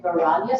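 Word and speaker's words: वैराग्य: Can you say that again, Vairagya, so you don't pronounce that I?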